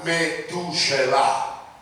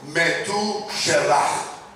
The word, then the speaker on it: Metushelah: En el hebreo, Matusalén se pronuncia Metushelah. 자, 따라서 한번 해보시기를 바랍니다. 메투셀라흐. Vamos a repetirlo. Metushelah.